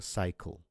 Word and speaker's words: cycle: C, the first C is followed by Y, but the second C is neither followed by I, nor E, nor Y. So the first C would be pronounced as an S, and the second C would be pronounced as a K sound, right? So it becomes a cycle.